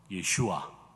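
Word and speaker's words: ישוע: 원래 예수님의 이름은 히브리어로 빨간 글자 3개가 이렇게 있죠. 제일 위에 있는 것이 예슈아입니다. 저 따라 한번 해보시겠어요? 예슈아. 예슈아. 발음이 좋으신데 예수님의 이름은 원래 예슈아입니다.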